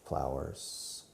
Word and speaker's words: flower: now you remember today the word AR sound the same who put a flower in the flower it sounds exactly the same in America and England and Scotland and Australia and New Zealand everywhere who put a flower